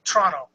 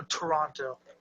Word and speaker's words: Toronto: It's actually pronounced Toronto. There's no Toronto. You have to put Toronto. It's two syllables.